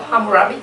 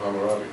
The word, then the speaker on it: Hammurabi: say this in English, but is this a Hammurabi Code? Code of Hammurabi.